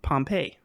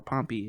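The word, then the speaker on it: Pompey: man in Rome and Pompei or pompy is I heard pronounce both ways uh Rome's most accomplished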